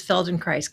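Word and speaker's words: Feldenkrais: So, can you tell us what exactly is Feldon Christ?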